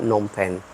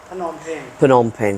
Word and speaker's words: Phnom Penh: Just to check it out cuz I hear good stories about nonen pen. Penom pen.